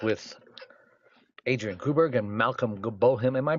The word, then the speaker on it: Bohm: And we're back with Adrienne Gruberg and Malcolm Bohm. Am I pronouncing your last name right, Malcolm? It's Bohm. B-O-H-M. Bohm. 1 syllable.